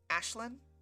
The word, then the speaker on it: Aislinn: Yeah, it it's it's Irish and Gaelic, so it's it's pronounced Ashlyn?